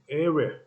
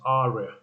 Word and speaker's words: area: golf to governor three area not arya area for mo not move